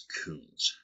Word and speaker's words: Kunz: I'm going to pronounce this family's name as Kunz, K-U-N-Z. This is the most common pronunciation that I have heard.